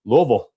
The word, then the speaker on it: Louisville: I'm just proud of you for pronouncing Louisville correctly. That's good stuff. Louisville.